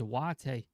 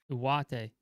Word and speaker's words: Ugarte: I've heard that Ugarte pronunciation is Uwate. I'm not sure if that's true, but I've heard that Uwate.